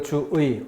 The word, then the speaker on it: 주의: 그래서 주의, 본래 표기 그대로 주의, 올바른 발음이고요. 이름절이 아니니까, 첫 음절이 아니니까 이로 발음하는 것을 허용한 거죠.